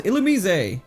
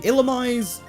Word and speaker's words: Illumise: All right, we got one of the new encounters, Illumise. One of the weirdest pronunciations of of a Pokemon name. It looks like it should be Ilamise. It's Illumise apparently, which like why is it Illumise?